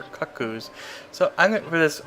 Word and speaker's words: Cucco: to pronounce that like as a kid I pronounce him as cuckoos but that's not really that doesn't make any sense it should be cut COEs or cut coos so I'm going for